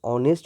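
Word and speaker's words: honest: ऑनेस्ट आपका विशेषण है यह इच से स्टार्ट है लेकिन इसका उच्चारण नेस्ट नहीं होता है इसका उच्चारण ऑनेस्ट होता है औ और औ क्या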